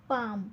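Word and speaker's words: palm: खाली आपण अंडरलाईन केली पाम पाम मध्ये पहा एल चा उच्चार उच्चार होत नाही पाम पाम एल चा उच्चार होत नाही म्हणून एल खाली अंडरलाईन केली स्कूल स्कूल मध्ये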